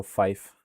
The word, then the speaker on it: Fife: Looks like it lines up with the better I believe it's pronounced like life, so Fife.